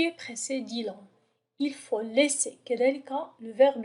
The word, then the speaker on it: laisser: نفس القاعدة لدينا deux S entre deux voyelles كي تعطينا الصوت S. إذا كانت لدينا S واحدة سننطقها laisser. لأن S entre deux voyelles تعطينا le son Z. لذلك نكتبها على شكل deux S.